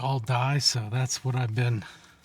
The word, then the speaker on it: Aldie: I don't know if it's all D or all die, but it's kind of pronounced like all die.